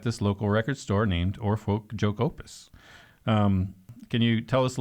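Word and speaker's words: Oar Folkjokeopus: please, in your own words, how do you pronounce the name of this store? Or Folk Joke Opus.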